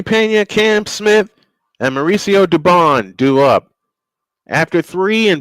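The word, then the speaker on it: Dubón: Uh to bat for the Astros will be Jeremy Pena, Cam Smith, and Mauricio Dubone. 67 and 8. Uh Dubon is the correct pronunciation.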